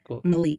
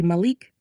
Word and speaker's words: Malik: who works with gold Malik it sounded like you said Mal but it should be Malik Malik Malik Exquisite you